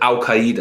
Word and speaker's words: al-Qaeda: doesn't rhyme with it rhymes with al-qaeda because you say ow instead of al you say like al-qaeda so saudi leader rhymes with that but when you see